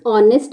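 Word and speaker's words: honest: क्या रहता है है एच क्या है साइलेंट और इसको लिखेंगे तो क्या लिखेंगे ऑनेस्ट और ओ क्या है एक स्वर है और स्वर है तो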